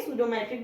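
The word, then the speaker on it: pseudometric: इसको हम क्या बोलेंगे, सूडोमेट्रिक बोलेंगे। पी इसमें साइलेंट रहेगा।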